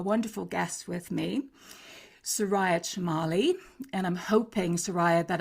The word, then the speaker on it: Chemaly: Yes, it's Shamali like an S, but don't worry. Shamali.